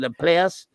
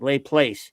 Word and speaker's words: Laplace: And then Laplace is spelled L-A, capital P, L-A. She's like lay place. Everywhere called it Laplace.